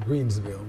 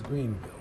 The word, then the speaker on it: Greenville: I think I said Greensville, but it's Greenville.